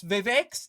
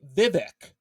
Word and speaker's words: Vivek: I pronounce Vivek's name wrong all the time. I sometimes say Vivek, and then I say that it's actually pronounced Vivek or Ramaswamy or Ramaswamy.